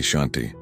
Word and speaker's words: Shanti: The mantra that will transform your relationship with your own mind is omanti shanti shanti. Let me teach you not just how to pronounce these sacred words but how to awaken their full power.